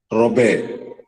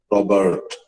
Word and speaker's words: Robert: Robert, R-U-B-E-R-T. Both the R and the T are silent in French.